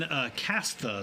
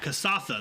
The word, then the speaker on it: Kasatha: I am playing Kastha. Is that right? Is that how you say it? Kasatha? Kasatha.